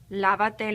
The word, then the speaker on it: lávate: Lávate las manos. Again, I must add my accent. I'm going to count back three syllables.